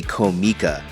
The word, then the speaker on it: Comica: years using comica products I've been saying it wrong and it's actually comica but anyways here is